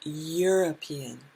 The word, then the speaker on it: European: say a european there that's an e which is a vowel but the sound is y the sound is european the u sound is